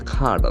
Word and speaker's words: cadre: The letter is A. A has got almost 6 sounds. Here it is normally a sound. Bag, apple, cat. This cadre. Once again we check the sound.